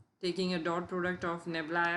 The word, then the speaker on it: nabla: as a vector differential operator the notation is pronounced as nabla and a br a Niebla or you can